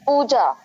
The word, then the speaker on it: Pooja: It's Pooja. Pooja. Yeah, Pooja. Okay, so more emphasis on the poo.